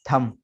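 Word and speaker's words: thumb: ठीक है, इसके बाद थम, थम कहते हैं अंगूठे को, जैसे अभी पीछे गुजरा थम पिन, तो वहां पर उसको भी थम पिन पढ़ा जाता है, थंब पिन ऐसा नहीं होता, थम पिन।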